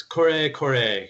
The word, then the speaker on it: Kore: he also is part owner of the store Corey Corey so Blair thanks for coming on hello thank